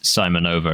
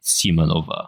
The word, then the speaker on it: Simonova: is she corrects his pronunciation of her name. Natalia does. I think it's Simonova. extremely good. Yeah. He says Simonova, and she's like Simonova.